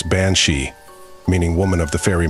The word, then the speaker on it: banshee: bansi comes from the Irish words being CI pronounce bansi meaning woman of the fairy Mound these fairy